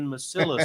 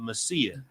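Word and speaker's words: Mesilla: for saying Masilla sometimes instead of Messia.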